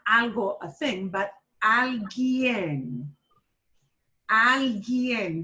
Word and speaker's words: alguien: Alguien. That U is not pronounced. Alguien.